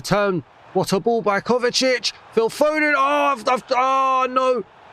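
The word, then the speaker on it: Kovačić: It's Kovacic.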